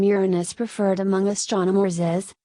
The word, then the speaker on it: Uranus: pronunciation of the name Uranus referred among astronomers is with stress on the first syllable as in Latin Uranus in contrast to